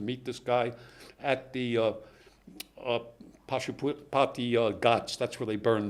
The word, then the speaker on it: Pashupati: Pashupati.